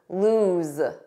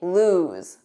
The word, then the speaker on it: lose: Now, don't confuse this with the spelling of lose, which has one O and a different pronunciation, because notice that z, z, lose, lose. Repeat after me, lose. But not tight, loose, with an S, loose.